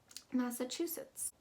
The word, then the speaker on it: Massachusetts: to remember is that it's not like um michigan that ch is actually going to be pronounced as a ch that second a is more of a uh sound and that u is very o o sounding massachusetts underneath there we